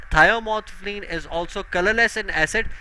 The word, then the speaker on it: thymolphthalein: Now methyl orange, phenolphthalein, and thiomolphthalein, right?